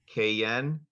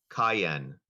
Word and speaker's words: cayenne: word is a homophone it's pronounced as kayen cayen definition a pungent tasting